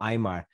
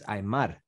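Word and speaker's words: Aimar: the english speaking press we would say pablo eimar but it's imar i believe the pronunciation i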